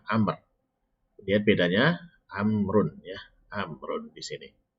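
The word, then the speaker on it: عمرو: Amrun di sini. Nah, Amr ini dia ada wawunya. Ya, dia sebagai penandanya bahwasanya ini dibacanya Amr.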